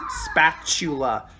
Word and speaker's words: spatula: you're watching this video this is spatula and the tea is pronounced like a ch so we get this